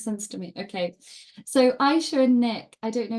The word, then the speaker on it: Aisha: It's spelled Ashia, but you say Aisha.